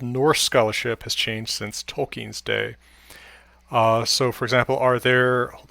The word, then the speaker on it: Tolkien: Well, I think the stress is on the first syllable, but it's not a schwa or a completely, reduced vowel. Tolkien.